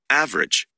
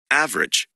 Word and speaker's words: average: a listen and practice the vowel immediately after a stressed syllable is sometimes not pronounced average different separate comfortable interesting vegetable okay now listen again it's not pronounced average different separate comfortable interesting